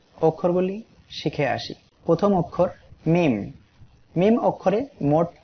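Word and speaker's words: م: মিম। এই অক্ষরটি ঠোঁটের শুকনা অংশ হইতে মিম উচ্চারিত হয়। এই ঠোঁটের এই শুকনা অংশ থেকে উচ্চারিত হবে মিম এবং 3 আলিফ টান হবে।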